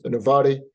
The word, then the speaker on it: innovare: It's innovare, but people love spell it as pronounce it as innovare, and means renew and reflect a journey.